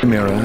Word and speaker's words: Mera: great job but uh I'm pretty sure it's pronounced mea let me check I am mirror miror miror miror miror miror miror miror miror miror